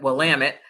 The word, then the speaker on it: Willamette: we went to visit Willamette which rhymes with damn it so that's how you remember how to say that correctly and so we visited with Willamette and then we visited